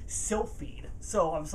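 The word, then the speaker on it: Silpheed: game called still feed I pronounce it wrong for the first year I had it I think slip heed I call it like slip heat I think right yeah yeah definitely still feed so I was like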